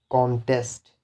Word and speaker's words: contest: For example, I have a word contest. So this contest is noun, right? So the stress will be on the first syllable.